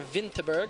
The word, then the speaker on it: Winterberg: and David gone from winterberg Germany or Vinterberg as the locals say it these guys you know